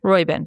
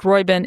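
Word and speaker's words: Roiben: called lord royben Robin how do you say his name royin royin at least the audio book and so Lord royin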